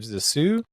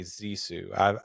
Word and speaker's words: Zissou: I ended up with The Life Aquatic with Steve Zissou. Mhm. Actually, Zissou. I've always mispronounced that. It's hard to break a habit, but in the movie they always say Zissou.